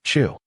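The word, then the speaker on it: 酒: A little thing called tsiu, pronounced chu.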